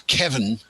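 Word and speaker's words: Cefn: This is the CEVN is Kevin.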